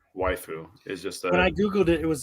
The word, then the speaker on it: waifu: a Wu Wu wife waiu is just using Japanese pronunciation rules to say wife yeah so it's wifeu is when I Googled